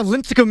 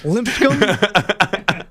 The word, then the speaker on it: Lipscomb: Well, and so far, Lincecum is down by 90 to Iowa State. So there you go, 0-9 for Cinderella. I think you added an extra syllable in there, but that's fine. Lipscomb? Lipscomb? Lipscomb?